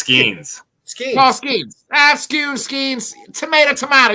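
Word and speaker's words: Skenes: Jonathan, how about Paul Scoons, man? Bless you. Was that how you say his name? No, it's Skeens.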